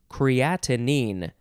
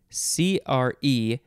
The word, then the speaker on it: creatinine: next word is creatinine so we added a syllable we had creatine and this is creatinine c-r-e-a-t-i-n-i-n-e yeah or you could